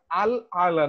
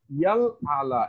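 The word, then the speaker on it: رَبِّيَ الْأَعْلَى: তো এটা পরে হুজুর ধরায় দিলেন যে এটা তো সুবহানা রব্বিয়াল আলা না, এটা আল আলা না, ইয়াল আলা, এখানে ইয়া শব্দটা এমফাসাইজ, ইয়া শব্দটা উচ্চারণে আনতে হবে, যে আপনার তো ইয়া আসে না, আপনি সুবহানা রব্বিয়াল আলা বলেন।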